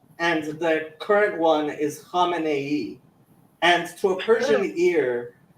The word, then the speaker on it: Khamenei: Yeah, I mean, Khomeini, right? Khamenei. It's even got an extra syllable.